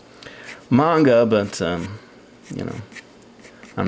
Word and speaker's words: manga: a sound and that's why it really is pronounced manga but um you know I'm not going to